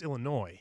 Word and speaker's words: Illinois: You feel the noise, but it's Illinois. I know, Illinois. No, you butchered No, I know.